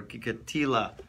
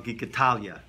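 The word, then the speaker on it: Gikatilla: Gates of Light, written by Rabbi Yosef Gikatila, or Gikatila, some people pronounce it, okay? Or as my father-in-law, Gikatalia, okay?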